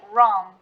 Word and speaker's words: wrong: pronounce it honestly perfect it's like wrong and that's it without the w uh it's just a